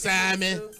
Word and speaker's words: salmon: On a menu, like onions, like salmon. Y'all say salmon. Salmon. I say salmon. They say salmon. Because the L is silent.